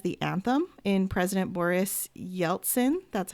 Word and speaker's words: Yeltsin: You also had a song, Our Generation, serving as the anthem in President Boris Yeltsin.